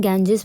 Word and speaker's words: Ganges: a bird ट लिवसुरे गंगा ठीक है जिसको कि हम इंग्लिश में गेंजेस प्रोनाउंस करते हैं तो गंगा नदी जो